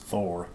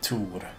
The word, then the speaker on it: Thor: The band is actually pronounced Thor, even if we in Sweden would remove the H and say Tor.